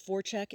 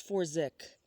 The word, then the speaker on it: Forzik: Forchek, is it?" he asked, mispronouncing her name. "It's Forzik," Daisy replied, emphasizing the proper phonetics.